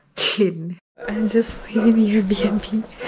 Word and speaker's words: Llyn: That's what the Airbnb host David told us to pronounce it. It's Llyn.